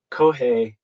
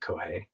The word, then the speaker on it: Kōhei: no way no way cohei and so that is also now my like blue sky handle like that I I own that URL now um but kohi now rhymes with no way and I feel like